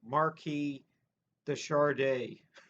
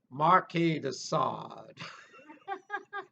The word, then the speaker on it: Marquis de Sade: the work of the marquee the chardee and morgan freeman you know when that voice says that's marquis de sade not charde like the singer but i was i